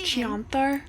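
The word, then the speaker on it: Chionthar: party a Miss plenty more fish in the chanthar as they say it's pronounced chanar don't tell him I was here just tell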